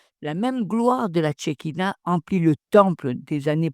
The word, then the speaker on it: Shekinah: Les juifs l'appelaient la Shekinah, prononcé Shek Eina.